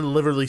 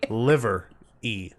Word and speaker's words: livery: In the livery stable, they have, I keep saying it wrong. I know. I can never You say add it an right. extra L. Liverly. No. Livery? Liver. Livery? Livery. Liver E. Yes.